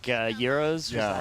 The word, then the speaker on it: gyros: Comes from the Greek word It's gyros, yeah. meaning circle or turn. No way in Greek do they say euro. Yeah, the first syllable starts with a Y sound, followed by the long E. The R is rolled strongly, apparently. The O is pronounced as in go, although I will say